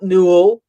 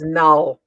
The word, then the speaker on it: Null: um lesson here um it's not new it's null that's what i thought